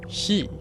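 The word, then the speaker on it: 四: número que ves es el cuatro shi que se pronuncia igual que Muerte en japonés es un número que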